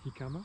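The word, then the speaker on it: jícama: En espagnol, on dit pas le J, on dit jicama. Ça s'écrit jicama.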